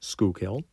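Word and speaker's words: Schuylkill: he located it where the skill pronounced skill River and the Delaware River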